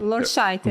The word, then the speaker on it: Lorscheiter: A gente trouxe a Bettina Lorscheiter hoje. Tá certo? Não, tá errado. Tá certo. Não tá certo. Sabia que eu ia errar. Porque pronuncia A. É só... Lorscheiter. Lorscheiter. Só esse detalhe, isso.